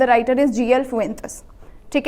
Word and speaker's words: Fuentes: तो इट्स the pronunciation is GL Fuentes।